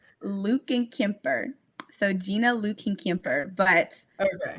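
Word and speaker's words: Lückenkemper: Her last name is so hard to pronounce. It's Lukenkemper.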